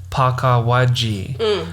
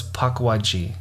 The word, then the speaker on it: Pukwudgie: the same thing yeah I thought it was Paka but because of the pronunciation it sounds like that but there's a missing letter in between so it's paji so paji oh but you see how when you say it like it sound pagi it sounds like there's